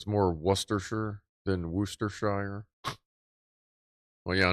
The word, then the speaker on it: Worcestershire: Wuss is correct. So Worcestershire. Okay. Worcestershire, I'll try to keep that filed in and delete Worcestershire. Worcestershire.